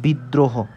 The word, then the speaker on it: বিদ্রোহ: বসবে নিজেই উচ্চারিত হবে যেমন বিদ্রোহ এটাকে আমরা কিভাবে বলতে পারি আমরা বলতে পারি বিদ দ্র হো এভাবে বলতে পারি না অর্থাৎ বিদ প্রথম হচ্ছে বিদ এই দ দুইবার উচ্চারণ হয়েছে এবং প্লাস র ফলা র ফলার সাথে র ফালা বসবে এবং হ বিদ্রো আমরা কি হ বলি না আমরা কি বলি বিদ্রোহ বলি অর্থাৎ এজন্য হকারে হ